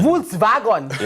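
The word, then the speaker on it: Volkswagen: I know actually it's no it's WS vagon Vols vagon because the W is spelled as a V and the V is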